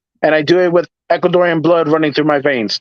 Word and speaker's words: Ecuadorian: I'm not Ecuadorian, but I'm Puerto Rican. It's all right. You're how do you say it? You're an honorary Ecuadorian.